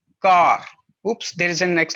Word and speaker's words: quart: just one thing that quarter in french language is called as car oops there is a